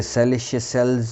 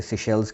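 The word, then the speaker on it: Seychelles: इसे सेलिशेल्स नहीं कहते, इसे सिशेल्स कहते हैं।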